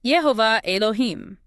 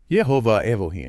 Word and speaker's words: Jehovah Elohim: And the mantra for death, Jehovah Elohim, pronounced Yhovah Elohim. Yhovah Elohim.